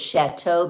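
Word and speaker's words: château: You know that it's chateau because E-A-U makes an O sound.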